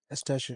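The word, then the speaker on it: Eustáquio: How do you pronounce the name? Eustaquio.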